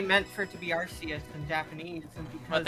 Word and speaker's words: Arceus: It's definitely pronounced with an S sound because the Japanese name is phonetically identical. Yeah, I mean, I'm sure that they meant for it to be Arceus in Japanese, and because